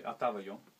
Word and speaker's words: Отава: When did Ataba Yo, Am I pronouncing it correctly? How do you how would how would you pronounce it? I would say Atava.